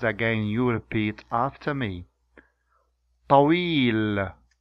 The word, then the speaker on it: طويل: Yeah, now I will pronounce the words with both sounds and you try to Listen carefully. طويل, طويل, طويل, طويل.